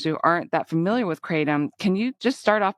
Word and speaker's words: kratom: Kratom has several pronunciations too, so I'm going to hit that at the outset here. So it's called Kratom in Southeast Asia, specifically in Thailand, Kratom or Kratom, and most of the